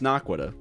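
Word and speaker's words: Naquadah: It is pronounced Naquita. It is pronounced Naquita. That's how it's pronounced in the source material.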